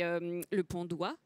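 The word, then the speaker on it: Le Pont d'Oye: Il se retrouve propulsé dans ce château, c'est le Pont d'Oie, d'Oeil, comment on prononce ?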